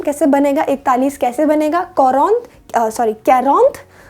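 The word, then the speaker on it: quarante: Enough और आ गया अब 40 यानी 40 कैरोंत, कैरोंत, कैरोंत।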